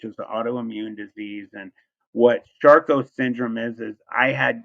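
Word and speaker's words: Charcot: was I had uh it's called sharco syndrome it's spelled c h a r c o t um I have advanced lupus which is autoimmune disease and what shco syndrome is is I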